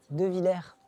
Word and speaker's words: Devillers: qu'il fallait apprendre vite bonjour de villire on prononce pas le S ouais vaste question vaste